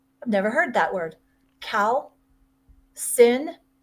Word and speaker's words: calcination: Cal sin. Sination. How do you spell that?